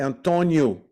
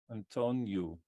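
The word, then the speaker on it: Antônio: R to move Antonio we don't say Antonio in Portuguese we say Antonio Antonio Antonio all the O's at the end are like the elves they have a u sound so it's very funny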